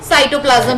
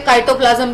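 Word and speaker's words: cytoplasm: साइटोप्लाज्म में होती है। कुछ अच्छे लोग इसे काइटोप्लाज्म भी कहते हैं। काइटोप्लाज्म इज द गलत प्रोनाउंसिएशन, ठीक है। साइटोप्लाज्म ही कहा जाता है।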